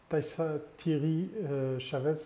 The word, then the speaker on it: Taïssa Thierry Chaves: Taissa Thierry Chavez, je prononce juste.